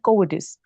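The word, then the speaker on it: cowardice: और जो कोविडिस होता है ना, इसकी प्रोनाउंसिएशन है कोविडिस।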